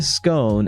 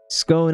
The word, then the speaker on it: scone: This is clearly a scone. And we absolutely pronounce it scone rather than scone. Scone as in cone rather than scone as gone.